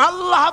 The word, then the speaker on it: আল্লাহ: পাকের নামের উচ্চারণ হচ্ছে আল্লাহ আল্লাহ মুখটা একটু গোল হয়ে যাবে বলেন আল্লাহ আল্লাহ সুবহানাল্লাহ পৃথিবীতে বিভিন্ন